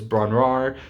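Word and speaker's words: Bron-Yr-Aur: my personal favorites is braun raar that's how it's pronounced um or bond year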